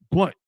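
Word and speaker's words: Blount: Blunt. I think it's pronounced Blunt.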